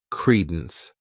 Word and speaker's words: credence: next noun is Credence this word has two syllables and the stress is on that first syllable Credence what it means is